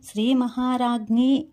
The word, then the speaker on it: శ్రీ మహారాజ్ఞి: అదే మనకి నామావళిలో చూసుకుంటే శ్రీ మహారాజ్ఞై నమః అని పలకాలి. ఇక్కడ చివరన జ్ఞై అని పలకడం అంటే శ్రీ మహారాజ్ఞై అని పలకడం అనేది ముఖ్యము.